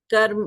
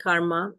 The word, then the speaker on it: karma: Karma, or some people call it karma, in the Western pronunciation would be karma. So I will just go with the authentic pronunciation, karma.